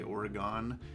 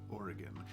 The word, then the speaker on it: Oregon: It's not actually pronounced like that. If you say Oregon, that is incorrect. It's just Oregon.